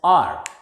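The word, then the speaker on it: hour: Next, H-O-U-R. H is silent here and it is pronounced as R.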